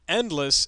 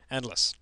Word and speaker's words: Ndless: to google and uh endless is spelt without an e in this case because it's some software for the ti n spire that doesn't have an i to inspire and the this is not spelled with the e for endless it's just n d l e s s endless and uh you'll notice